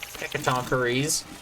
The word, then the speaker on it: Hecatoncheires: Hecatoncheires.